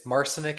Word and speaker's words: Marcinuk: I'm sure Marcenuk is is in the house. Hello. Nice to see you. It's Mar. You got it. It's Marcenic. It rhymes with arsenic which association.